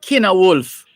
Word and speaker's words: Cynewulf: So ELENE, and this by Kina Wolf. And this Kina Wolf is spelled CYNEWULF. CYNEWULF. Kina Wolf.